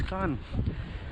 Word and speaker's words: Cannes: And even we were pronouncing Cairns as Cairns, but it's actually not Cairns, it's Cannes.